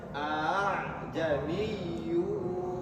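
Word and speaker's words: أأعجمي: Jadi cara bacanya adalah panjang dua harakat. Ajami a kan dua harakat dulu a-nya a jamiu wa arabi. Bacanya seperti itu.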